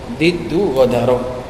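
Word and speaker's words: ضد غدر: Diddu ghadaro. Bacanya gitu, diddu ghadaro.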